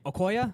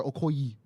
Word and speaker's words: Okoye: Okoye, Okay, right?